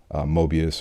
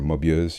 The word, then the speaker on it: Moebius: gorgeous art from Jeanjiro, Mobius or Mobius. You can actually pronounce it either way. That's kind of the beauty of Mobius. He he himself refers to himself in both uh both I guess uh pronunciations.